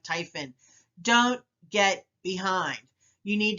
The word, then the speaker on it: Typhon: this pearl is a typhon tip on setting up defaults so what is typhit well it's your friend and it rhymes with hyphen it's a program that